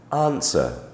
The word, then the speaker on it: answer: is of course silent W is silent as in answer Sword and the number